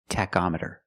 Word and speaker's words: tachometer: call it a tachometer with the word tachometer the CH makes a C Sound ctac tachometer you check the tachometer